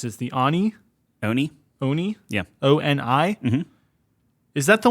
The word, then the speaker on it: Oni: number two comes from Japanese myth I probably mispronounced as the Ani Oni Oni yeah o-n-i is that the one with the